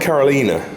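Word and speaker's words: Caroline: Carolina, she pronounced it Carolina.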